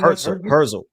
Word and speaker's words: Herzl: Herzl. Yeah, Theodore Herzl.